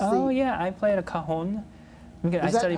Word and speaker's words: cajon: What is Oh yeah, I played a cajon. I studied how do you percussion.